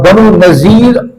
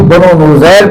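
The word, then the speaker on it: بنو نضیر: کو تیار کیا، اور بنو نذیر، اسے نذیر بھی کہتے ہیں اور نذیر بھی کہتے ہیں، بعض اسے بنو نذیر پڑھتے ہیں، یہودیوں کا قبیلہ تھا، بعض اسے بنو نذیر پڑھتے ہیں، دونوں کا تلفظ صحیح ہے۔ یہودیوں کا قبیلہ مدینہ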